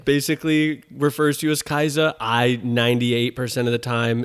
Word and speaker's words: Kaisa: say my name but if you say kai's i'll say no it's kaiser yeah with ness shout